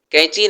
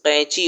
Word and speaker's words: قینچی: جس سے کاٹتے ہیں۔ کینچی نہیں، صحیح تلفظ قینچی ہوتا ہے۔ بولو بولو، قینچی۔ وہی تو کہا ہے، کینچی۔ پھر وہی کینچی۔ حلق سے قاف کی آواز نکالو، قاف۔ قاف سے قینچی۔ پھوپھو نے کہا۔ قینچی۔